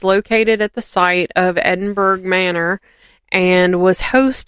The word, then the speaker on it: Edinburg: pronounced for in Iowa Edinburg it's Edinburg but it's not pronounced that way it's pronounced like Edinburgh so but I'm going to say it how I think people in Iowa would say it as Edinburg um so the town